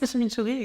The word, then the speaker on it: chimichurri: souvent accompagné de, tu vas peut-être mieux le prononcer que moi, de chimichurri. Oui, c'est ça ? La sauce, chimichurri, exactement.